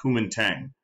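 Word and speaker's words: Kuomintang: understanding but the Chinese nationalists are called that's pronounced the Kum Tang uh and their founder is this man sunet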